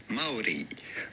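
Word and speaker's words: Māori: Just how do you go about pronouncing their name? Well, the natural indigenous way to say it would be Maori.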